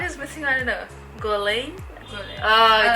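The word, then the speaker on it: Guerlain: It's Gorlane. French, so you're Yes. supposed to miss a few letters. Yes, I don't. Yeah, the R is missing. I don't know. Gorlane.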